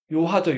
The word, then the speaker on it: 요하: 이거 우리말로 두 글자로 쓰면 뭐라고 썼어요?요 요 하 요하죠. 요하. 예. 요하를 중국어로 읽으면 야오라고 읽는 거예요.